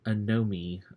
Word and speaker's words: anomie: Durkheim called enemy or anomie I think it's supposed to be a no me but I always get this word the pronunciation wrong I don't like the way that's pronounced but anyway I know